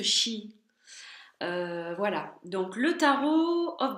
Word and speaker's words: Sidhe: Alors ça se prononce Shi, ça s'écrit Sid, mais ça se prononce Shi.